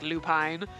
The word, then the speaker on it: Lupin: I understand we're supposed to probably pronounce it like Lupine, but nobody thinks Jean Lupine, Jean Lupin. Huh!